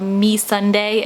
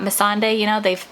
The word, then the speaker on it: Missandei: Like in one interview, they called me Sunday and not Missandei.